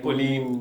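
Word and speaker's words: Polène: Like Pauline is this brand that came from his fiance. It's pronounced Polen, by the way.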